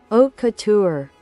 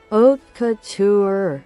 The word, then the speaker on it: haute couture: Well, if you aren't looking for couture, wait, I'll check how to pronounce. Haute couture. Haute couture.